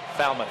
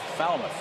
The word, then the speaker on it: Falmouth: Falmouth. Falmouth.